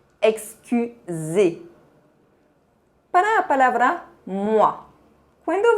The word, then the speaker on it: excusez: Para excuser, você pode ver que esse verbo se termina com EZ. Essa terminação tem o mesmo som que o E fechado. Excusez.